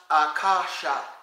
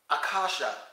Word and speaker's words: Akasha: a language unto itself the word is pronounced Akasha Akasha when I spoke to